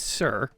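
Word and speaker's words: Tser: by the uh okay how would you pronounce this t-s-e-r i have never known how to pronounce that a day in my life i'm hearing from my producer it's sir yeah i'm going to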